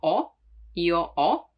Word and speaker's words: ho: Now, the H is always mute in Italian, so you don't pronounce it, like in hotel, hotel, or as you know, io ho, the verb to have.